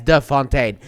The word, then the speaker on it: de Fontaine: as Valentina Allegra De Fontaine, which is apparently very important that you pronounce her last name as the Fontaine.